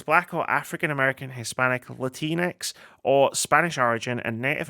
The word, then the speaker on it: Latinx: Pronouncing the X is the name of the, so you get something like Latinx.